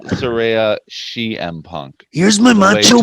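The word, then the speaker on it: Saraya: they still don't know how to say it. No. It's Soraya.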